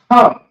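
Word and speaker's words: חם: And that's Ham. So you have a Ha, then you have a Ma. It's connected. It's pronounced Ham. And you can see that also in the same verse.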